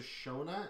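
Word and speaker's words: Schöna: the um it says it's a service to shona s-h-o-n-a but it's actually spelled differently o n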